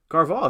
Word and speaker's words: Carvalho: you have no idea man oh i did pronounce it right sweet carvalho thank you awesome i uh all right rate